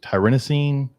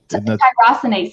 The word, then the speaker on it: tyrosinase: Is it tyrannosine? Tyrosinase, yeah. Tyrosinase.